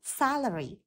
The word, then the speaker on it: salary: lương đó tiền lương từ tiền lương là trọng âm rơi vào âm thứ nhất salary D accountant accountant vậy